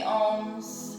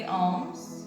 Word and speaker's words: Om: let's finish with three ohms we breathe in so the ohm is uh it's three syllables one more time deep